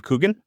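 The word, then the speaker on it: Coogan: on um uh the Penguin Lessons with Steve Coolen I think that's how you pronounce his name. He's like the comedian who does Alan Parkridge. Steve Kougan Kugan Kugan.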